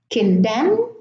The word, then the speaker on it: condemn: Now in the second column, I have autumn, column, condemn, dam, solemn, hymn, and government. Now, the N here is silent in all of those words, and in the first